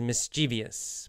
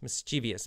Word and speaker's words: mischievous: And in English, A good word for that is mischievous. Mischievous. Mischievous or mischievous. You'll hear it pronounced both ways.